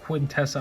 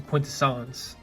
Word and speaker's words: Quintessence: gonna mispronounce it, because it's not Quintessa, obviously, it's the Quintessence, with the spinning head